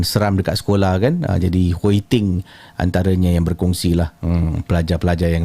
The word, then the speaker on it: Hui Ting: Jadi Hui Ting antaranya yang berkongsilah pelajar-pelajar yang lain, Hui Ting. Okey. Hui Ting, ejaan dia H-U-I, Hui T-I-N-G. Dua perkataan berbeza, Hui Ting. Dia macam perkataan Korea, Hui Ting.